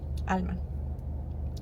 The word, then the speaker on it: Alma: When I moved to North Carolina, I would pronounce my name the way it's supposed to be pronounced, Alma.